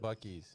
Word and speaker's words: Buc-ee's: It's pronounced Buc-ee's.